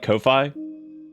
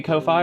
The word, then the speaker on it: Ko-fi: Do you want it to be Ko-Fi or do you want it to be coffee?